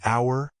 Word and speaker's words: hour: apple an elephant an hour the H in hour is silent so it starts with a vowel sound use the when referring